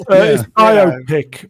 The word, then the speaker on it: biopic: I like pronouncing it as biopic because I like that it rhymes with myopic, which most of these films are.